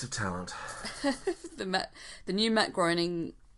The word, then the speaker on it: Groening: The new Matt Groening... Groening, I think you pronounce it.